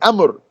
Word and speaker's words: amr: Amr, amr, amr. How you spell that?